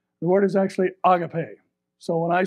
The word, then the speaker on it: agape: actually supposed to be pronounced and you can pronounce it the way we've all heard it for years and that's the word agape the word is actually agape so when i say agape you say agape and let's all just get